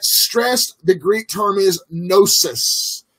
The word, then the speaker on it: gnosis: the Greek term is gnosis. I know there's a G there, but the G is silent. Gnosis, if you will.